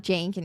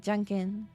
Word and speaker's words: Junkin: It's not Jankin, it's like Junkin. For like Junkin Bone.